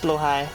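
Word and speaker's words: Blåhaj: I mean, I know it's pronounced blow high, but I'm not going to call it that.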